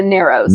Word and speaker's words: Narrows: in the Barrows rhymes with it. A crap. The Narrows.